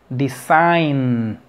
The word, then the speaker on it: design: fíjate bien después de decir ay no puedes pronunciar por sí sola la n como que te posicionas en la g style sainz design como que al brincar de lo que es